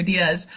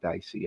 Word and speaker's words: Diese: It's Diaz, not Dicey.